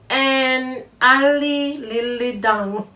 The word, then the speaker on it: En Ledig Dag: I think the title is pronounced an Ali Lili Dung.